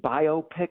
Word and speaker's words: biopic: The phrase biopic that's the proper way to pronounce it, biopic, because it's a compound word meaning like a biography and a picture.